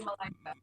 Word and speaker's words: Malaika: Have I pronounced that correctly? Because I'm rubbish with names. Is it Malaika? Natalie Malaika. Malaika, what a wonderful name.